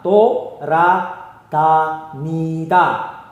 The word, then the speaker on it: 돌아다니다: Pelafalan dari Tora Tanida adalah Tora Tanida. Tora Tanida. Tapi penulisannya seperti itu.